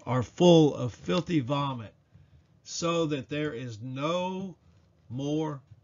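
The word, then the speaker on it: צוֹא: The last Hebrew word we will discuss in this video is Strong's number 6674, pronounced so and spelled T-S-O.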